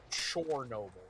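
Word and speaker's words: Chornobyl: on a as a small act of solidarity uh use the Ukrainian pronunciation chore noble spelled with an O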